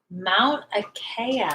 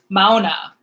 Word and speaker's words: Mauna Kea: It's called Mauna Kea. Mount Akea. No, Mauna. Like M-A. I don't know if I'm saying it right. M-A-U-N-A. New word, K-E-A.